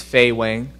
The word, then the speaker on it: Fei Weng: the best right so um my name is feay Wang probably one of the best you know easiest Chinese name you can ever pronounce so a two-time gator uh am from